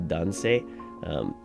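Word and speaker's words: 男性: It says this is pronounced Otoko, but this is Dansei, as we have here.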